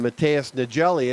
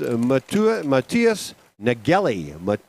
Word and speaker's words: Matthias Nagelli: chat with me, and I've been calling him Mateus Nagelli, and I think his family likes that. But he came up to the timing deck, and we had a great chat for the time that was available between races, and his real pronunciation, and I really appreciate it, although it wasn't offended and his family liked it, what I was pronouncing, it's Matthias Nagelli. Matthias Nagelli is the best way I can come up with it.